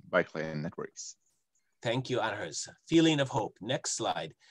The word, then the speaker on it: Anders: My name is Anders.